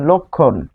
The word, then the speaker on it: লক্ষণ: লক্ষণ, এটি হচ্ছে উচ্চারণ হচ্ছে লক্ষণ। তো লক্ষণ, এই যে মধ্যে থাকলে আমরা পাচ্ছি ক খ এর মতো, এই যে ক্লিয়ার হচ্ছে এখন ক এবং খ এর মতো।